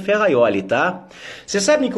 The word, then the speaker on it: Ferrajoli: correto foi afonso ali inscreve ferrajoli com j mas pronuncia ferraioli tá você sabe que